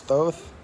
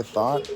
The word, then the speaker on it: Thoth: I don't know how anyone else pronounced it, but I pronounced Thoth is Thoth. Other people say thought or taught. I can't get it, Mama. Thoth, taught, thought. I say Thoth.